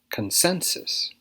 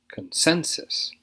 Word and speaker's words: consensus: first word is consensus consensus stresses on the second syllable here consensus consensus this is a